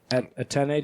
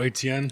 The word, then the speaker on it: Etienne: Njoku, Hillard, Dak Prescott, and the Chargers defense for Baker Mayfield and I don't even know how to pronounce the last name. Atene Jr.? Oh, Etienne.